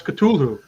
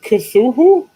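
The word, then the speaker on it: Cthulhu: me 55 years to to figure out how to pronounce katulhu so don't feel bad i don't think i ever got it right until i went to a convention and heard it properly pronounced i was like it isn't kazuhu but but why not yeah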